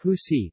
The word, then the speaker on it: usi: In the municipality of Taal, pineapple leaves are processed to form a kind of cloth known as usi, pronounced husi, from which the barong Tagalog, the national costume of the Philippines, is made.